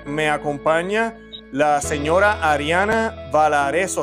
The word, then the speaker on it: Valarezo: Y en el día de hoy me acompaña la señora Ariana Valareso. ¿Así se pronuncia el apellido, Ariana? Sí. Ariana Valareso.